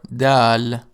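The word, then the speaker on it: د: Sarah Sarah the letter Dal D is a consonant it is pronounced like the letter D in the word deep it makes the sound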